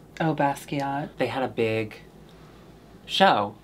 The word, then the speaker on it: Basquiat: Basqua. Oh, Basquiat.